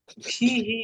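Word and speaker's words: فيه: হয়েছে, বাগান যে মানে হুর পূর্বে যদি জের আসে তাহলে হুটা হি হয়ে যায় উচ্চারণ সুবিধার জন্য। ফিহি ইহার মধ্যে হাদিকাতুন সগীরাতুন একটি ছোট বাগান আছে, কথাটা আরবিতে উজ্জ থাকে।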